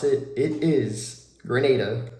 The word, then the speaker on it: Grenada: Number one, once I got there, I learned really quick how to pronounce it. It is Grenada, not Grenada.